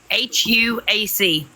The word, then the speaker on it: Anahuac: ANAHUAC. Hold on. Is it Anna? That's the first part. Okay. Anua? No. I don't know then. Anahuac. Oh my God, that's horrible. Right. Yes.